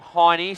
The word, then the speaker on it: Hine: the South Australian Spectators call him hiney so it must be Hine not hany so I do apologize uh